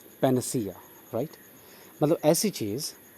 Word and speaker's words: panacea: Next word is पैनासिया। हाँ, इसका correct pronunciation है पैनासिया। अन साउंड के बाद अ साउंड आएगा, पैनसिया नहीं पढ़ेंगे, पैनासिया, राइट।